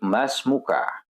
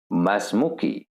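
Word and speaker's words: ما اسمك: Namun, teman-teman, di dalam percakapan penutur asli bahasa Arab, seringkali akhirnya disukunkan atau dimatikan. Jadi teman-teman bisa juga membacanya, melafalkannya dengan pelafalan masmuk. Saya ulangi, bisa juga masmuk, masmuk. Nah, jika teman-teman ditanya nama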